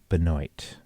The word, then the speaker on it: Benoit: let's hear you again i think the french pronunciation is benoit but it's been americanized see i had a